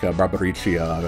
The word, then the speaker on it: Barbariccia: Whenever I see double C's like Barbariccia, I assume I'm going to put the full lilt into it.